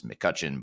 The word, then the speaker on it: McCutcheon: version uh it's McCutchen and the last name is spelled MCC u t c h e o n so there's an e in there that's silent but it's McCutchen but with an e